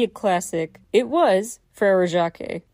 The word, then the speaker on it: Jacques: It was Frere Jacques. Actually, Jacques, or Jacques, as in some versions for the syllable count's sake it's pronounced, it doesn't translate to John.